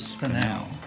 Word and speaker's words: spinel: This is spinel. Spinel. Spell it for us.